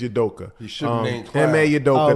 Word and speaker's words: Udoka: his name right clown his last name is yudoka yeah okay the head coach of the Boston